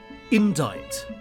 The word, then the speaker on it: indict: Indict. Yes, despite how that is spelt, it is indeed how it is said.